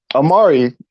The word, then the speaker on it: Omari: because my entire life he's called me Omar. He has never once said Omari, even though it's pronounced Omari.